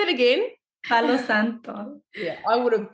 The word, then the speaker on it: Santo: burned the Santo can you say that again Santo yeah I would have butchered that so helps that we're from we're chillian we're from South America so it definitely helped um but yeah B Santo it's Hollywood it's something that we grew up